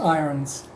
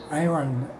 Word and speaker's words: ions: water and electrolyte dissolves into positive or negative ions that have iron ion ions ions there's no R in the